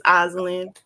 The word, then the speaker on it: Osland: gonna tell you that you be pronouncing my name wrong. It's Osland. That's why I said Miss Dakota, because you had a feeling, huh? Yeah, I had a feeling. So it's Osland. Yeah, it's Osland. Like Oz, the Wizard of Oz.